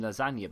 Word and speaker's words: Lasagna: Feels stupid calling him lasagna, but that's how you say his name.